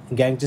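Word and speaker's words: gangue: गॅंग हे लक्षात ठेवायचंय गॅंगची स्पेलिंग याप्रमाणे त्याचा उच्चार गॅंग आहे आहे पण त्याचं जर आपण गॅंग्यू म्हणजे डेंग्यू वगैरे त्याच टाईप मध्ये स्पेलिंग आपल्याला आहे याला आपण काय म्हणतो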